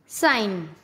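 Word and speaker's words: sign: जब एन से पहले जी आता है तब हमेशा जी साइलेंट रहता है। जैसे डिजाइन, रिजाइन, campaign, norm, साइन।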